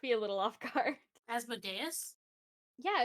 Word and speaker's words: Asmodeus: a little off guard asmodeus yeah it's pronounced as modius asmodius America is there anything